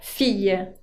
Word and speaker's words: fille: hija, on dit la fille. La fille es la hija. Fíjense que acá tiene una doble L, un double L, que se pronuncia ye.